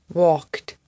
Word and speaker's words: walked: Asked, checked, walked, worked. The sound at the end of these words is kt.